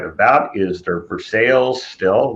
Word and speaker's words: Versailles: To the right of that is their Versailles still, which most of us would say Versailles, but apparently it's pronounced Versailles in Guyana.